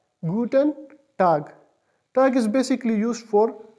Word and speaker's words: guten Tag: is GU te n PL g and it's pronounced is guten tag guten tag tag is basically used for day it's generally